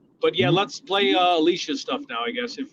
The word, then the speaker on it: Alicia: And her name is spelled A L I C I A. It's a little bit different, but they say Alicia. Alicia. Instead of the e, instead of the e,